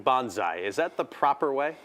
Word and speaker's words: bonsai: I'm saying bonsai. Is that the proper way? Well, you can say bonsai. It's really you just combined the word bone and sigh. So it's bonsai.